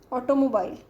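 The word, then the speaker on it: automobile: तो floor, floor and hours silent है इसमें, एंड दिस इज ये ऑ साउंड है, ऑ एंड मोबाइल, ये दिस इज आई, आई पे स्ट्रेस्ड है, ऑटोमोबाइल.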